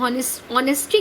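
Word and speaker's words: honesty: अंग्रेजी में आप देखिए, अंग्रेजी की क्या खासियत है कि अंग्रेजी में अगर हम ऑनेस्टी कहते हैं तो वहाँ पे एच साइलेंट होता है, लेकिन हॉर्स कहते हैं एच साइलेंट नहीं होता है।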